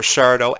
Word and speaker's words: Sardo: Um, and I loved how she was able to bring characters like Mr. Sardo accent on the dough.